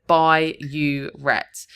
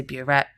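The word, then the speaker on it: burette: One common mistake here is writing bureet instead of byette. They will accept if you've spelled it incorrectly, but phonetically it sounds the same. But I just split it up here to try and help you remember. By don't say boret, you're going to lose the mark.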